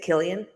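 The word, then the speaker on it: Cillian: Killian. Yep. Killian Murphy returning as Tommy Shelby.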